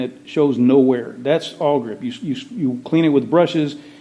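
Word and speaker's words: Awlgrip: Oh, probably the best thing on earth to paint something like this with is a product called AllGrip.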